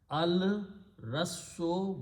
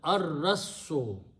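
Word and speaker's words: الرَّسِّ: And al removes one dhamma, so it becomes al Rassu, but in the tajweed, Ra is the Shamsi letter, so lam is not pronounced. It is pronounced as ar-rassu.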